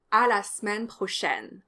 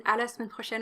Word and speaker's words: à la semaine prochaine: In fact, none of the e's in à la semaine prochaine are actually pronounced.